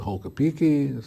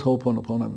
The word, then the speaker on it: Ho'oponopono: Some pronounce it Hokapiki, some pronounce it Ho'oho, so I'm going to tell you the correct way to pronounce it. It's Ho'oponopono. And what does Ho'oponopono mean?